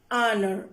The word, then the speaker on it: honor: Example, an R, an honor, like that. Here H is silent.